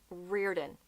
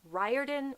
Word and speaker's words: Riordan: It is Riordan, not Riordan or Riordan. Riordan. I don't know how he personally pronounces his name.